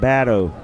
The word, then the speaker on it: Badeau: He's from Louisiana, so you're going to pronounce that Badeau. Badeau, okay. Appreciate Badeau, it. that's the Cajun pronunciation.